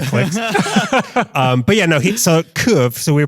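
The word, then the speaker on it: Kyiv: So we were saying Kiev, the city in Ukraine. But that's the Russian pronunciation. And to choose the right side, you want to pronounce it the Ukrainian way, which I still can't get. He said it for me. It's something like kuv.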